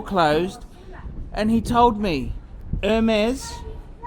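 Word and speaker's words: Hermès: before the store Clos and he told me Hermes pronounced the for silent hates actually owns the freeold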